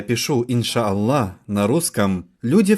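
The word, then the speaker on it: إن شاء الله: так ин ша алла а произнося это вы говорите иншалла хорошо итак когда я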